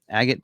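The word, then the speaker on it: Agate: will have the uh agot black believe that's how you say it I say a gate but I think it's agot Black Metallic we do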